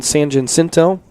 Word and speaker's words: San Jacinto: And then Mountain San Jacinto, that's how you say it.